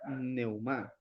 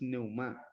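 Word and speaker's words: πνεῦμα: en el interlineal griego la palabra espíritu se pronuncia de la siguiente manera palabra espíritu se pronuncia neumá la pronunciación es neumá neuma tiene una derivación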